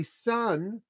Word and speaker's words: son: S-O-N, S-O-N, and S-U-N pronounced exactly the same.